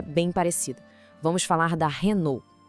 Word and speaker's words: Renault: Vamos falar da Renault. A gente vê o mesmo padrão aqui, igualzinho em Peugeot ou as letras no final, nesse caso LT, são silenciosas.